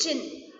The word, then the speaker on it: jinn: And they also complained this to jinn. The pronunciation of this word is jinn. What is the pronunciation of the word? It is jinn.